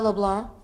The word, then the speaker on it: LeBlanc: But the C is silent.